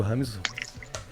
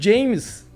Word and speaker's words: James: Bolívar jogou contra o Rames. Quando isso, cara? Aí na época ainda, chamavam ele de James. Lembra? Porque se escreve James, né? E o pessoal lia errado.